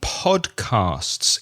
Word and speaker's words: podcasts: and the S and it's a bit similar with part Castes because you have the s and the T and the s together so listen carefully and repeat podcasts podcasts and one other word